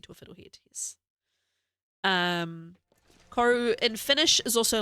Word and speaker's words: koru: Um, I don't pronounce it the proper mai way for my name, but the proper Marty way to pronounce this is koru, not koru.